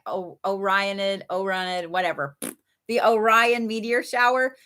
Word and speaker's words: Orionid: I needed it's like the Orionid, I think is OR. It's like Orion and then ID, Orionid, I think is how you say it.